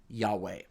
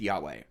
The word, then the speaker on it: Yahweh: what they're talking about if they think god's name is jehovah it's a big grammatical mistake put that aside god's name is probably pronounced yahweh but it means in